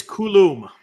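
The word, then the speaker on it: Coulombe: I think it's Coulomb. Yeah. Okay. Well, okay. That's nice. At least that's how the A's announcers pronounce it.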